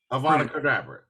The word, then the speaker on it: Avada Kedavra: Pronounce it right, man. Avada Kedavra, which translates to "let the thing be destroyed," or the original version of abracadabra. Avada Kedavra.